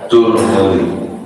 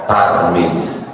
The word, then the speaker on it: Tirmidzi: Boleh juga dibaca Turmudi, boleh juga dibaca Tarmizi. 3 cara membacanya: Tarmizi, Tirmidzi, Turmudi.